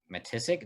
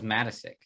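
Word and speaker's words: Matiscik: matastic yep ross matissic matissic that's how it's pronounced what's this i think it is i don't know i thought it was matasik i don't know it's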